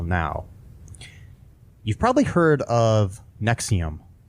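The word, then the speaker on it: NXIVM: okay the the um Nexium is NX I VM is how it's spelled it is a uh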